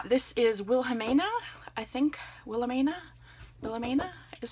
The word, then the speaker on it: Wilhelmina: Wilhelmina is how you say her name.